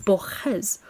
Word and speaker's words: Borges: And I went, okay, it's Borges. Like an H-y sound.